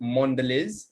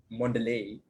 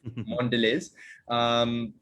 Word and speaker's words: Mondelez: they turned into mondelez and yes it is pronounced mondelez not mondelez it is mondelez if you look on their wikipedia page it